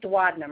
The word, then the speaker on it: duodenum: The next part of the GI system that could be involved with surgery is the duodenum, or sometimes people pronounce it as duodenum, as I mentioned.